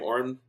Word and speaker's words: Oren: That's how you say his name, Oren. Yeah, Oren.